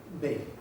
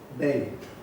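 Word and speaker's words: behi: Bei, vaca en euskera, Bei. La G se cae y queda la aspiración, sobre todo en la parte norte del País Vasco. Entonces se escribe con H, Bei.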